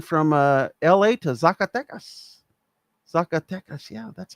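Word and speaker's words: Zacatecas: Zakatas.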